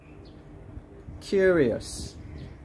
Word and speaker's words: curious: i'll say it aloud where's the stress curious so we put it on the first syllable who's curious to see